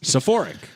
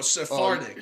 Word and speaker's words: Sephardic: Sephoric. Sephoric. She probably stops at Sephora opposed to Ashkanazi. Oh, no. Sephardic.